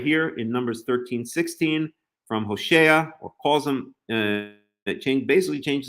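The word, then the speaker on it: הוֹשֵׁעַ: It's not like Hosea and Joshua in the English. In the Hebrew, it's Hoshea and Yehoshua.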